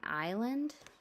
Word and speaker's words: island: IS, the S is silent. It says I as in island.